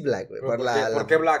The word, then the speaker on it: Blxckk: así emme Black después ya evolucionó a.m.blanco ese pronuncia Black nada más le por la x hay algunos